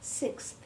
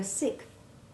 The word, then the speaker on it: sixth: as we did and we must practice making this x1 sound when it is followed by th as in sixth as many people struggle with this and make only the hard c sound as though it were sixth do you remember the